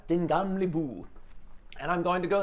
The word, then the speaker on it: Den Gamle By: The first time I did it, I was Den Gamle By, and everyone just laughed at me. Now it's Den Gamle By.